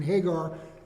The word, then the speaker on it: Hagar: Foreman is what does Hagar's name mean Hebrew names have a meaning and her name we pronounce it Hagar it's actually ha gar The Stranger so her